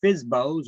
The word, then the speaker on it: FSBO: their own property basically fsbos or for sale by owners we pronounce that fsbo fsbo um that's a for sale